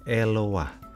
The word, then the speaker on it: Eloah: Kata dasar untuk Allah dalam bahasa Ibrani diucapkan Eloh atau Eloah dan Elohim. Sedangkan dalam bahasa Aram, Elah dan Allaha. Kemudian bahasa Arab, Ilah dan Allah.